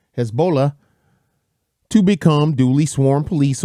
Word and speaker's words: Hezbollah: of Hamas and Hezbollah Hezbollah actually I said it wrong my bad Hezbollah to become duly sworn